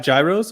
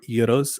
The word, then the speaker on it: gyro: It's just they don't at home we have gyros or euros. I love when you say gyro and they go euro.